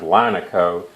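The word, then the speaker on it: Lineco: by a company called linico I've heard it pronounced linaco but it's made of linen so it makes sense to me to call it linico I've never heard anybody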